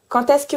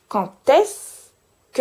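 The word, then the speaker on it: quand est-ce que: Observe that when I say the "quand" I make a connection between the "quand" and the "est" and that the connection sounds like a T even if it is a D.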